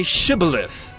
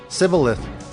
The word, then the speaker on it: Shibboleth: When he said, No, they said to him, Then say Shibboleth. And he said, Sibboleth, for he could not pronounce it right.